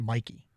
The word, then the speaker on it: Mike: Even though I think it was reported that even though it's spelled M-I-K-E, it's pronounced Mikey.